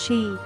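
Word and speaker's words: 四: nine as unlucky numbers the pronunciation of four in japanese is she which sounds the same as death therefore it is regularly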